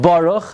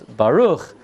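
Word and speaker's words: ברוך: Not Baruch. There is no word in Lashon HaKodesh Baruch. It's Baruch, Atah, Adoshem, Elokeinu is a Milel.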